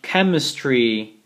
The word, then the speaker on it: chemistry: this type of pronunciation even though we have the CH combination CH the pronunciation will be like a k chemistry don't forget this this